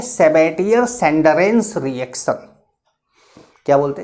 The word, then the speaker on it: Sabatier: को क्या बोलते हैं, तो इसको बोलते हैं सेबेटियर सेंडरेंस रिएक्शन। क्या बोलते हैं, सेबेटियर सेंडरेंस रिएक्शन।